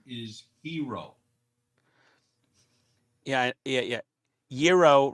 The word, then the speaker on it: gyro: hero yeah yeah yeah Euro rhymes with hero I know I have